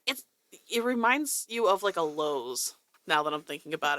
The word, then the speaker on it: Lowe's: Everybody says it's Lowe's, but it's Lowe's. Yeah. There's no S, like Kroger.